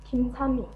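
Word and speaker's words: 김찬미: 一咪，好，连起来，King 灿敏，King 灿敏，King 灿敏，好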